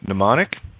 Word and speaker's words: mnemonic: wo OD or wold M is silent in mnemonic and always silent at